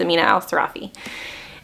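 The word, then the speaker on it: Amina al-Sirafi: was The Adventures of Amina Al seraphi or sarafi always mispronounce her last name I'm pretty sure it's Amina Al sarafi I absolutely love this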